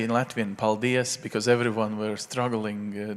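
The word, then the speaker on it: paldies: now you will have to say in Latin paldias because everyone were struggling to do this can you pronounce it properly Paul De Assange okay good it works I love all these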